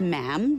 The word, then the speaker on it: ma'am: For instance, when you're addressing the Queen, she is Her Majesty, and after that it's just ma'am, rhymes with jam.